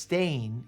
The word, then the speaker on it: Stein: Stein is pronounced stain here in South Africa.